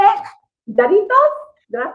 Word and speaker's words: Jarritos: Jarritos? Did I say it properly? I think that's a Y, so Yari, and it's double R, so you gotta roll your tongue a little more. Yarritos.